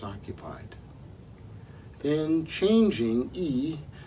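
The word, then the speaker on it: 易: Then changing, yi, there are two words in Chinese pronounced the same way, fourth tone, yi.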